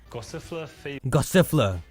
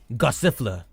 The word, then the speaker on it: Gossifleur: Gossifleur. Gossifleur.